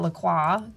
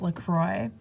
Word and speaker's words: LaCroix: a Canadian because I want to call it Lacroix cuz it's it's basically a French word but it's the company has even come out and verified that it is pronounced Lacroix despite the spelling so when I call it